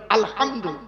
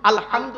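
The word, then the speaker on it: الحمد: আলহামদুলিল্লাহ রাব্বিল আলামিন আলহামদু এই গলার ভেতর থেকে হেটা উচ্চারণ করবেন আলহামদু আলহামদু মানে হচ্ছে সমস্ত প্রশংসা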